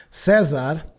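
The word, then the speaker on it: César: lets me know that this is either a Portuguese or Spanish name, something like that. So we actually pronounce it Cesar. So thank you very much, Caesar, for donating Antechamber.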